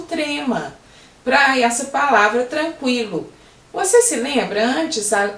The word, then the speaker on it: tranquilo: Mas quando você fala tranquilo, o QU tem o som de quilo, o U aparece. Antigamente nós tínhamos o trema para essa palavra tranquilo.